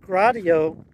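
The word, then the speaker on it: Gratiot: shores of uh Lake Erie so um point gradio and yes that's how you pronounce it uh Point gradio Lighthouse was uh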